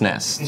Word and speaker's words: SNES: initialism Akron ISM is like SNES which was pronounced Nest Super Nintendo Entertainment System